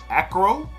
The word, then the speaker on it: Akro: All right, so yeah, so we're gonna tap in today to the house of, I think you pronounce it Akro, A-K-R-O.